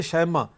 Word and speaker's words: شیمہ: بنی ہیں، صحابیہ بنی۔ اور جو شیمہ اس کا اصل تلفظ ہے شیمہ، اور جزامہ ان کا